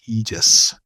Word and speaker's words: Aegis: it's the Greek, but in English it's spelled Aegis, but I think it's pronounced Aegis.